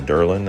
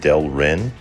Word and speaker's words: Delrin: Been pronouncing that incorrectly. I was calling it Derlin and it's not. It's Delrin.